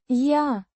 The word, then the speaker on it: я: Я начинаю вращать одной рукой. Я. A personal pronoun meaning I, pronounced. Я. Similar to the ya in yard, but slightly shorter and less emphasized.